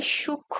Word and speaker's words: সূক্ষ্ম: আবার সূক্ষ্ম, এখানেও একটা ম ফলা আছে কিন্তু সেই ম ফলাটার উচ্চারণ হচ্ছে না।